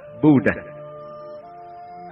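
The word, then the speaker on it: 不大: Bất Đại phát âm là Bú Đà, không to lớn.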